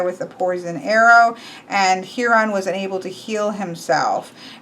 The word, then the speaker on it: Chiron: Then we go into magical beings, and here we have who I have heard as pronounced Chiron, but in Greek is pronounced Huron.